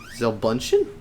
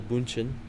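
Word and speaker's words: Bündchen: the names yeah giselle i'm bunching i guess with the um it'd be gisele bunchen but yeah all right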